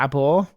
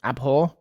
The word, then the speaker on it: abhor: mania an attribute we were unsure whether to abore is that how you say abore let's learn something new today I feel like that's how you say it abhor abhor pronounce it for me Google yeah this